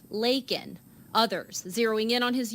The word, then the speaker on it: Laken: Critics pointing out he called her Lincoln instead of Laken.